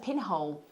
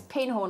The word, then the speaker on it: Pinhorn: that they're exquisite oh pinhorn i said pinhole i'm so sorry alex that's beautiful sorry it's pinhorn i didn't hear it